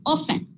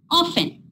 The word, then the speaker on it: often: T is a silent letter here. So you should not say often. It's not often. Often. T is silent. Often. Often.